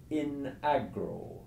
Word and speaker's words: in agro: So for example, the Latin for in the field is in agro, with a short I for in.